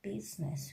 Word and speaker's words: business: i in that case later i is silent like business b you is n u s s business in this case we are telling business we are not pronouncing letter i now after j you